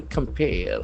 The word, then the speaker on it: compare: To compare. Here the word compare will act as a verb. It is in the infinitive form. Compare. Compare. So the accent falls on the second syllable.